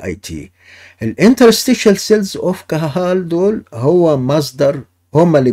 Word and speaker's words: Cajal: cells of Cajal ده Spanish scientist، فبتتنطق في الاسبانيش كاهال.